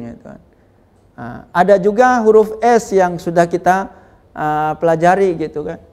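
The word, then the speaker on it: شَ: Sya, bacanya sya. Jadi suara angin di tengah lidah ini harus banyak.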